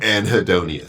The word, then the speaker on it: anhedonia: correctly you are anonia anhedonia an is a lack of hi is pleasure and then the onia is like the condition the symptom yeah okay so what